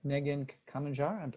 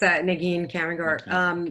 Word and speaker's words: Janine Kamanjar: And next we have Nejin Kamanjar. I apologize for mispronouncing that. Yeah, that's all right. Yeah, can you hear me? Yes, I can hear you. Thank you. Okay, great. Yeah, it's Janine Kamanjar.